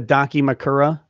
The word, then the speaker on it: Dakimakura: Are you familiar with a Dakimakura?